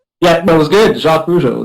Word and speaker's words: Jacques Rougeau: Jacques Rougeau. That's how we say it here, and that's how English people say it.